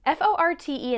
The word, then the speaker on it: forte: The masculine F-O-R-T would be pronounced more like for, but the feminine F-O-R-T-E would be more like fort, which is why it's